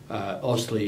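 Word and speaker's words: AustLII: Austley is spelled A-U-S-T-L-I-I.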